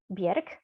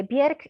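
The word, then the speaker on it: Björk: post-humanist of all is bjerk by the way bjerk is an icelandic pronunciation if i switch back to polish pronunciation by mistake please you know correct me but uh anyway bieric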